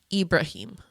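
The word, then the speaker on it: Ibrahim: Inside and Oh, we also meet um Ibraham. Is that how you say his name? Ibraim. Ibraim.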